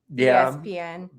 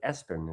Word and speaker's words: ESPN: Did you intend for it to be pronounced ESPN or Espen? Or he did originally? ESPN. I Yeah. But when you start looking at the pronunciation and stuff, like if you looked it